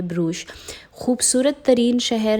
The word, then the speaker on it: Brugge: अब यहाँ पर कुछ लोग ब्रूख भी कहते हैं, आई मीन फ़्रेंच में, और ब्रूश भी कहते हैं, क्योंकि डच और फ्रेंच की प्रोनाउंसिएशन जो है वो मुख्तलिफ होती है। तो कुछ लोग पता नहीं क्या क्या कहते हैं, लेकिन इसकी प्रोनाउंसिएशन तकरीबन इसी तरह की है, ब्रूश।